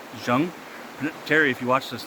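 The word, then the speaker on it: Jeon: His Korean name, I believe you pronounce it Jung. It's spelled J-E-O-N, but I believe the pronunciation is Jung.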